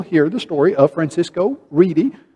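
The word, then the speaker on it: Redi: the story of francisco reedy some people pronounce his name ready r-e-d-i and he did an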